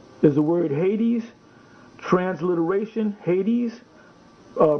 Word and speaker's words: Hades: in the greek is the word hades transliteration hades uh pronunciation hadas proper locative noun um here's the definition one